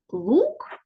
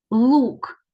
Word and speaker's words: лук: послухайте як вимовляються слово лук і люк Варто звернути увагу на різницю у вимові перших звуків у цих словах лук звук лох юк звук л у слові лук перший звук твердий л - ло ло